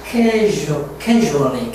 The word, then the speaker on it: casually: 즉 아니고 casually, casually, casually, usually, usually.